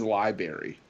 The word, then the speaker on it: library: that like somebody says Library and I and I and I'm like there's a second uh there's a first R in there you realize that she said why do